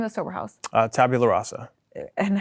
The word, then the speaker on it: tabula rasa: what is the name of the sober house tabula rasa and how do you say that tabula and